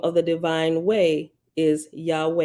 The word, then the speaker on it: Yahweh: form the most revered Hebrew name for deity Yahweh pronounced Yahweh although you will usually see the tetragrammatin rendered